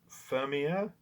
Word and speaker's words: Fermier: Fermier. It's spelled Fermier.